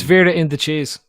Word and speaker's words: Veranda Cheese: Veranda Cheese says, yeah, you pronounced my name wrong too. It's Vera in the cheese.